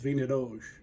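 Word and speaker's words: vinha d'alhos: My mom always called it vingadage, which that's what we thought it was called growing up, but not till I got older that I learned the pronunciation of that, which is vingadage, which is close.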